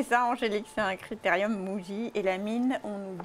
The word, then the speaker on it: Muji: Il me semble que c'est Muji.